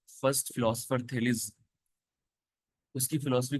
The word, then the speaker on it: Thales: और सबसे पहले दो फिलोसफर्स जिन्होंने फिलोसफी स्टार्ट की, थेल्स थेलिस प्रोनाउंस किया जाता है उनको, तो इनके बारे में भी आज हम पढ़ेंगे।